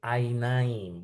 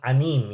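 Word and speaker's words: עיניים: Ain itu menjadi ainaim bukan anim ya.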